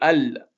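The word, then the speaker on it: ال: On va bien prononcer al parce qu'on arrive en début de mot.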